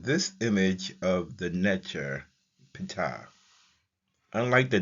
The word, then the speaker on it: Ptah: His name is pronounced Ptah.